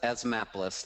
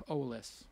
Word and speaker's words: Asthmapolis: It says Asthmapolis, like Asthmapolis, a map. Asthmapolis. Like Minneapolis. Asthmapolis.